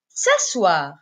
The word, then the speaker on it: s'asseoir: verbe c'est le verbe s'asseoir s'asseoir qui se termine avec O i r o i r qui se prononce war c'est terminaison donc à